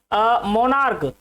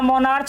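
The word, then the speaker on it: monarch: तो प्यारे बच्चों डिपेंड करता है कि प्रोनाउंसिएशन क्या है, हम इसको स्टमक पढ़ रहे हैं, इसको मोनार्क पढ़ रहे हैं, ना कि इसको स्टमच पढ़ रहे हैं, ना मोनार्च पढ़ रहे हैं।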